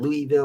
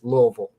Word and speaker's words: Louisville: it but i mean if you sound it out that's probably not how you pronounce it for some reason that's